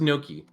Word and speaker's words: gnocchi: Yeah, gnocchi. Nochian. Oh my god. It is pronounced gnocchi.